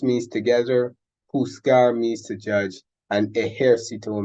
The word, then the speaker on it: juzgar: Juntos means together, juzgar means to judge, and ejército means army. Now, the jota is pronounced pretty much like the English H, just like the G, the English H.